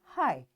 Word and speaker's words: high: as T in switch and G in high.